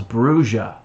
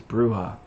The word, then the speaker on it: bruja: where they called themselves bruja and for a long time i thought that's how it was said and then later it's like no dude it's bruja i'm like damn it